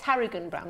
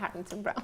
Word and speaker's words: Harrigan-Brown: It's Harrigan-Brown, not Harrington-Brown.